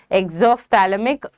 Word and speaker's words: exophthalmic: Exophthalmic, P is silent, okay?